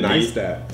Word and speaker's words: Neistat: Neistat.